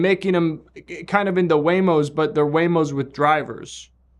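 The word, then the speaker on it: Waymo: might be stolen from a company that rhymes with Neo. Okay. Yep. Yep. E I E I O. Bingo was a dog. What was his nameo? That's the rhyme to the the thing. It's not Whamo.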